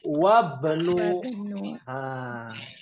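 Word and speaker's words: وابن: ini adalah Hamzah wasal kalau dia berdiri sendiri dibacanya Ibnu tapi kalau nempel dengan wa menjadi wabnu ya harakatnya hilang dia seperti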